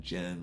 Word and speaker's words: Djinn: how to spell but the D is silent I know that so